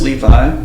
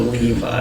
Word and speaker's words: Leevye: it out for yeah so the name is levi in this case is my official producer and soon-to-be artist's name it's going to be spelled l-e-e-v-y-e so levi it's kind of spelled out phonetically l-e-e-v-y-e type [ __